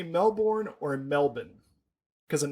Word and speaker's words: Melbourne: So I can put all the airs and graces on, but it's Melbourne, right? Just Melbourne. Melbourne. With a Yorkshire accent, yeah.